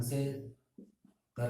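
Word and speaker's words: sec: एंड सिक्स वन इज सीकेंट, जिसे हम बोलते हैं सेक।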